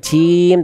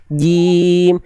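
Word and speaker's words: جيم: silakan auzubillahi minasyaitanirjim Bagus tinggal jimnya jangan Jim tapi jim jim jangan Jim auzubillahi sirim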